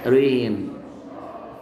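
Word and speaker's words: reign: براق بيل يعني رين رين يعني عهد او فتره حكم الجي ما بتتنطق رين فلوكه يعني الفلوكه فلوكه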